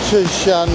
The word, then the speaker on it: Tsz Shan: First one I'm going to visit is it's spelled TSZ. I think it's Tsz Shan Monastery.